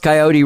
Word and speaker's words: Kyote: get some moments and it's pronounced coyote radio coyote radio and so what happened